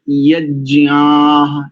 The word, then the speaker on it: यज्ञाः: इसलिए यज्ञाः ज्ञाः ज्ञ आह, यज्ञ आह, तो यज्ञाः ऐसा।